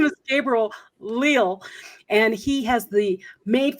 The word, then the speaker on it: Gabriel Leal: is uh real leo it's his name is gabriel leel and he has the made from scratch broadcast